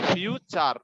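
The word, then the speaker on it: future: যেমন ফিউচার, টি এর পরে কি দেখতে পাচ্ছি আমরা? ইউ, তাহলে টি এর উচ্চারণটা চ হয়ে যাবে, ফিউচার, ফিউচার।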